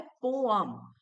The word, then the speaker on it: poem: जो ये वर्ड है पोअम, इसका करेक्ट प्रोनाउंसिएशन होता है पोअम। पोअम, ये अंकिता का जो अ है वो आता है पोअम। तो ये एक अमेरिकन प्रोनाउंसिएशन है, और ब्रिटिश प्रोनाउंसिएशन है पोएम।